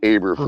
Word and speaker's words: Eberflus: You non-German people. It's Eberflus.